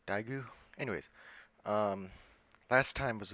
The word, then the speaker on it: Daegu: meet me in daegu i believe it's pronounced daigu anyways um last time